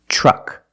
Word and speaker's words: truck: When you have TR together in any situation, you can pronounce it ter, but usually we don't. We pronounce it ch plus the R sound, chur. Example, train, truck, tree, and travel.